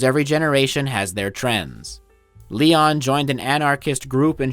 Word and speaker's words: Leon: Anyway, Leon Czolgosz lost his job at a steel mill during an economic depression known as the Panic of 1893.